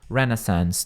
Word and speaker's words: renaissance: Não, é exatamente igual eu falei na primeira vez, ó.